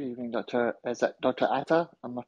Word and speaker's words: Ata: Ata? Am I pronouncing that correctly?